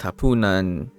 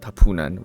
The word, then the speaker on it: hapunan: which is the afternoon, but hapunan, not hapunan. I don't know why I said it like a foreigner.